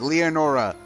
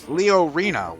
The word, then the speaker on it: Leorina: No, wait. Leorina. Wow. I think we've all been pronouncing it backwards the entire time. Like as I've been saying Leona, Leonora, Leonardo. I've been saying her name wrong the entire year.